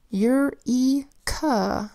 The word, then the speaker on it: eureka: And this is spelled with the EUR phonogram that says EUR, a E that makes a long E sound E, a K that says K, and an A that says That's an unstressed vowel there. Eureka. Say it fast.